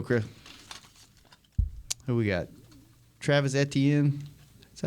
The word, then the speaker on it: Etienne: Travis Etienne. Is that how you pronounce his name? Yeah, Travis Etienne.